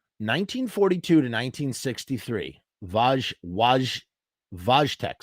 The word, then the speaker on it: Wojtek: 1963 vaj wage vojtek so it's not with a w uh in polish first of all it's polish not russian pardon me sometimes in english sometimes it's spelled wojtek vojtek that's how it is vojtek okay forgive me oh